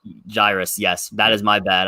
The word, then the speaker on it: Jairus: this guy so much i think it's pronounced gyrus like cyrus with a j i'm not totally sure what to see on the show i also think about it right i did my bad i i i switched the i and the r in the in the pronunciation that jairus yes that is my